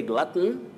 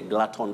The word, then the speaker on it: glutton: You can say glutton, or you can also say glutton the way you said it. All We are right. talking about a person who eats too much. Yes. A glutton, or a glutton. Just like you say button and button. Both are acceptable.